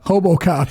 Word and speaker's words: RoboCop: Hobocop, yeah, that's hilarious. That's so funny. Hulk is the R because he's Brazilian. You pronounce it like an H.